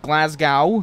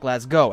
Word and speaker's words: Glasgow: Okay, so Glasgow, that's what it looks like. That's how it's spelt. Okay, that's how I'd say it over here in Boston, Massachusetts. Not Glasgow, as it's, you know, supposed to be.